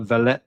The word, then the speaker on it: Vallejo: I always say it wrong. It's like Valet. It's spelled Vallejo. I think Vallejo. I think they call it. I think that's how you pronounce it anyway.